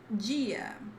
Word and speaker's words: dia: Number 3, dia. Dia, which you might hear dia in some places, but dia in the southeast. It's not D, not die, it's G. Oh my god.